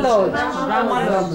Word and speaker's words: Brahma Lodge: Brahma Lodge.